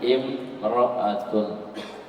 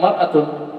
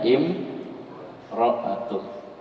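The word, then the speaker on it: امرأة: Alif lamnya dibuang. Jangan bilang maratun. Tidak ada. Jadinya imroat. Imroat.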